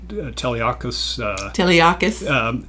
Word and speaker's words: Teleakis: And one of those families, and I pronounced this correctly, Teleakis. Yes.